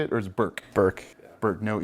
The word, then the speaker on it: Burke: Burke. Burke, no E. Okay. There is an E. Or no E pronunciation.